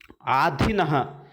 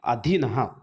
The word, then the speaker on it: अधीनः: तो चलिए अभी देखते हैं आधीनः, पर उसका सही क्या है, अधीनः।